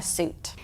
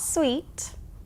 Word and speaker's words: suit: as the noun a suit the meaning and how we use it are different but the spelling and pronunciation are the same not sweet suit let's look at the